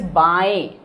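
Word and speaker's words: बाएं: So for left, it is said as baएं. So it's the nasal voice. Nasal word. Baएं. It's a So if I will write baएं, but it is pronounced as a nasal word or baएं.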